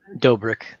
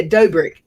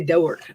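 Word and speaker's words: Dobrik: can't say his name how you say dobric yeah dobric I always say don't work for some reason dork um he was there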